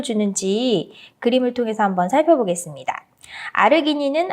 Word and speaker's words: 아르기닌: 아르기닌은 아르지닌이라고 발음을 할 수도 있고요.